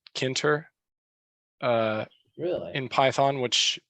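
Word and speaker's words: Tkinter: beating so it's it's kind of weird it's pronounced kinter but it's just it has a I'll put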